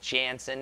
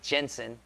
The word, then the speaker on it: Jensen: I have a friend who's named Michael Jansen, and it's actually Jensen. And now I'm saying his name wrong to try and get yours right. But yours is Jansen. His is Jensen.